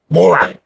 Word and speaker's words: Maurer: Maurer.